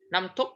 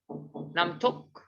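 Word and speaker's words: น้ำตก: Namtok, huh? Is that the proper way to pronounce it? Namtok.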